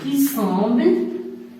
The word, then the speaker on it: semble: pas, S du pluriel, qui semble, le verbe sembler, avec il, le pluriel. On ne prononce pas ENT, qui semble, fait, T et S